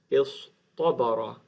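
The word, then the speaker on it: اصطبر: And so this is going to produce istabara. So the ta turns into a ta because the sad has an ah sound, which is difficult to pronounce with the ta.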